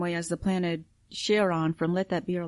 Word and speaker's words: Charon: They do pronounce it Charon there, but anytime it refers to the character in Greek mythology, it's pronounced Charon.